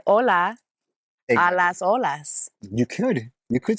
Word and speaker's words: hola: why or what uh we don't pronounce the h ever I don't think so